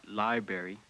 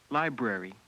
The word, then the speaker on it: library: Not library. Library.